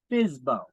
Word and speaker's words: FSBO: for sale by owner the acronym fsbo we pronounce it as bizbo um attorneys executors executrix